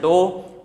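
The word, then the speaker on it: tau: That combined physical quantity itself is known as torque and it is shown by specific symbol like this to be pronounced as to t a u is its spelling t au to be pronounced as to.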